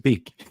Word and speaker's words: Beak: when you got to Beak, right? And everybody was just like, "How do we pronounce this?" It's just Beak. You know, like on the face of a bird.